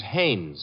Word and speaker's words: Haines: to fish no no no not heinz haynes couldn't be hunningberg no